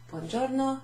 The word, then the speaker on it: buongiorno: Buongiorno significa hello or good day. Literally, good day. Buon giorno. Giorno. G and an I together is a G. G. G-I-O. Gio. Gio.